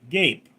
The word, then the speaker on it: gape: RDRT gape pronounced like ape with a G.